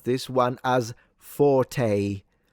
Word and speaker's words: forte: So even in in the composer's note, it's not forte, it's forte.